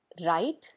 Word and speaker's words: write: Verb राइट, जिसका अर्थ होता है लिखना। इस वर्ड का प्रोनाउंसिएशन करते समय ये ध्यान रखिए कि W यहाँ पर साइलेंट है, इसे नहीं बोला जाता है।